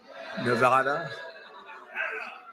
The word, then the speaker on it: Nevada: And don't ever mispronounce the name. You're not allowed to do that, Joe. You mispronounce the name, you got a problem. You ever see somebody when they say it's Nevada? Nevada? No, they're in deep trouble.